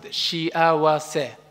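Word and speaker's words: 幸せ: Today, I want you to know one Japanese word, shiawase. Let's pronounce it, shiawase.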